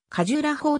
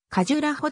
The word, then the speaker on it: カジュラーホー: 損されてカジュラーホーと聞こえる場合もあれば実際のところカジュラホと聞こえる場合もあるまた 5 月の長音が多少を短く発音されてカジュラホと聞こえる場合もあって日本ユネスコ協会